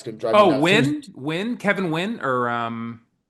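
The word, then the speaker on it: Nguyen: Oh, Win. Kevin Wyn or um I used to call him Naguan, but it was I think it's called his name is pronounced win.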